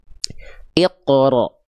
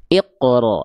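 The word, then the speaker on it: اقرأ: Iqro. Iqro. Jadi bukan iqro monyong ya.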